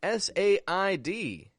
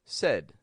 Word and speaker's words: said: sound says and then s a i d note as well I'm not pronouncing that say but I'm giving it a quick said kind of sound said all right and